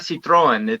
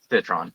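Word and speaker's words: Citroën: A lot of people Really? like to put the French pronunciation, much like the car. So it's not Citroen, it's Citron.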